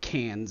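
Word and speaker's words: Cairns: ended up in uh Karns or Cannes as they like to pronounce it and we did a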